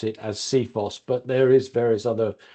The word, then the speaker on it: CFIHOS: facilities information Handover specification and we like to pronounce it as seos but there is various other other ways of